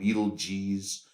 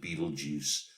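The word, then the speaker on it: Betelgeuse: um it's so so since that movie we all pronounce it Beetlejuice um all right so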